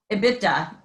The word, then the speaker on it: EBITDA: there it is before earning statistics so ebi ebitda yes we we actually have a pronunciation for that in accounting presents or ebi